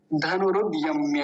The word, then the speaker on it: धनुरुद्यम्य: धनुरुद्ध और यम्य ऐसे नहीं रुकना, फिर वो गलत बात हो जाएगी। तो पूरे का उच्चारण कैसे होगा, धनुरुद्ध यम्य, धनुरुद्ध यम्य ऐसे।